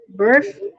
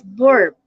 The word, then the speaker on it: burp: Sometimes letter P, I pronounce letter F. That's the Filipino English, and I cannot deny on it. Especially that sometimes we as a Filipinos, we confuse letter P. Sometimes we just like letter B and letter V.